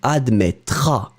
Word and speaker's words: admettras: You don't pronounce the final S. Tu admettras.